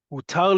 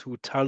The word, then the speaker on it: הותר: What is put with vowel sounds here? Hutar lefilsum emesh.